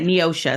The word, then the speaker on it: Neosho: Yeah, Neosha. It's pronounced with an A, spelled with an O.